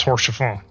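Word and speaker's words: Haurchefant: His name is spelled Horche. But his name is Horse Chafon.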